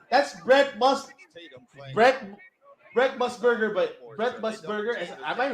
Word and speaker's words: Musburger: That's Brett Musburger, but Brett Musburger. Am I right? Am I right for the pronunciation? Yeah. Musburger.